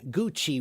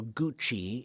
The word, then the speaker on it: Gucci: Gucci. Why is it pronounced that way? Wid, that's a that's Italian. In Italian, they often have a the C is a is often a ch- sound.